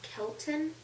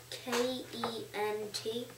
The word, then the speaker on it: Kent: Kelton? Spell it. K-E-N-T.